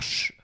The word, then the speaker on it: je: La prononciation des pronoms personnels où le E saute, ça c'est peut-être un peu plus basique, mais je vais jamais dire je. On va dire ch.